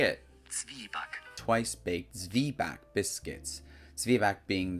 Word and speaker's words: Zwieback: How to pronounce? Just say it. Zwieback.